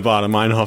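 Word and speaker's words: Baader-Meinhof: In my mind, like, I remember my mnemonic device is Darth Vader and David Hasselhoff shaking hands.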